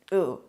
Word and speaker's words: ooh: So two O's is ooh, one O is oh.